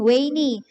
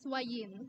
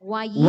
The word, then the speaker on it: Wayan: So how do you actually pronounce your name? Because earlier I was saying Wayne. Is it, I realize maybe Yeah. it's Wayan now. Hello, good afternoon. It's actually pronounced as Wayin.